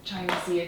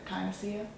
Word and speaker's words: echinacea: And China Sea tea. I don't know how to pronounce it, but Echinacea.